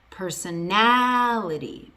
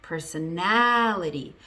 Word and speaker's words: personality: Now if I add itty to it, it becomes personality, personality. I went from having the stress on the first syllable, personal, to having the stress all the way on the second to last syllable.